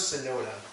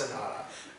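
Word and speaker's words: Sonata: I thought it was sonoda so now so you know that they're named after musical terms oh so it's pronounced Sanada and let me okay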